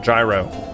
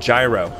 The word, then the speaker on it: gyro: You always thought it was pronounced like rhymes with hero? Jiro? I've never heard it called Jiro ever. I've always called it gyro.